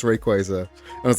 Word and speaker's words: Rayquaza: Apparently they they put out an official pronunciation of it that it is in fact Rayquaza. And now I'm going back to pronouncing it Rayquaza.